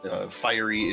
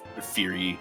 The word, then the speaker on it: Phyrie: I did confirm Phyrie is the English pronunciation, Phyrie is the French pronunciation, so both are correct.